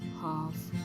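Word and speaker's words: half: okay loop leaf एक् अब L silent कहां पर होता है जहां पर अब ऐसा कोई रूल है नहीं कुछ वर्ड है जैसे की हाफ could would should could would should O यू एलडी ओ यू एलडी वाला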